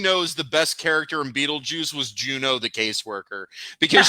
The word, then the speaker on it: Beetlejuice: No, it's not. It's Beetlejuice, man. No, it's Beetlejuice, but at one point they pronounce it as Beetlegeist. Because she's trying to figure it out. That doesn't mean that's a correct pronunciation. I heard Sarah laughing. So she's on my side. It's like Poltergeist. It's a joke on Poltergeist.